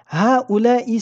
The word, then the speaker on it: هؤلاء: Haula'i se prononce haula'i. Nous prononçons dans celui-ci deux meds. Le premier qui ne s'écrit pas après le ha et le deuxième qui s'écrit après le lam.